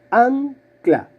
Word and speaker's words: ancla: más fuerte a ver cómo suena la palabra ancla o anclar a ver para a duch la mano la sílaba tónica la sílaba fuerte es la primera ángulo entonces voy a